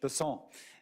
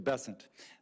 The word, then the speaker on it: Bessent: Bessent, I'm always going to pronounce your name as if it was in South Louisiana, and I'm going to pronounce it with a French Bessent as opposed to Bessent.